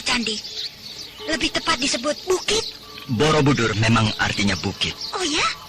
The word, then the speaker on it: Borobudur: Ucapan Kamulan Bumi Sambara Budara oleh penduduk di sekitar sini diucapkan sebagai Kamulan Bumi Samborobudoro. Lalu untuk singkatnya, hanya disebut Borobudoro. Lama-kelamaan, jadi Borobudur. Lalu siapa yang membuat candi yang besarnya kelewatan seperti itu?